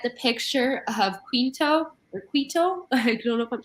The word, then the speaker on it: Quito: picture of quo or Quito I don't know if I'm pronouncing that correctly keto thank you I see the Q you and I go um but keto so there is two